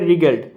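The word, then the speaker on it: wriggled: से साप रिगल्ड ने W silent letter ए उच्चारण होवे रिगल्ड T Regal verb past form अर्थात v टू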